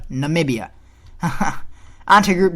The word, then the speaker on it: Namibia: Not Namibia, Namibia.